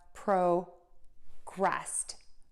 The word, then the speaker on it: progressed: But then when we have this ed, you do not add an extra syllable. You're just going to add a t to that second part of the word.